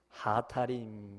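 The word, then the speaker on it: הַאֲתָרִים: 근데 우리말로 음력을 한 이 아다림을 히브리어 원 발음으로 하면 어떻게 되냐면 하타림 이렇습니다. 하타림, 요걸 우리말로 아다림 그렇게 이제 음력을 단 거예요.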